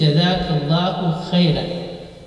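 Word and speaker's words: جزاك الله خيرا: So say jazakallahu khairan, and the correct pronunciation is jazakallahu khairan.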